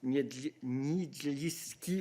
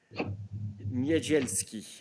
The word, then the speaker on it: Niedzielski: Successful applicants will also be considered for the Megalizy Niedzielski, oh my God, Prize for Aspiring Journalists. Sorry, I should have practiced this before. Niedzielski, I think is how you would pronounce it.